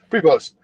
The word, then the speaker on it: Prevost: His name is, and correct me if I'm not pronouncing this right, is it Prevost? Yep. Prevost.